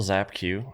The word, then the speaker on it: Zapq: My name is Zapq. So, last name always hangs people up when you look at the spelling, but it's just pronounced like Zap Zap Q.